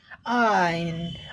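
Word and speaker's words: iron: में और मौन साइलेंट रहता है इसलिए इसे आइन आयरन की तरह उच्चारण किया जाएगा।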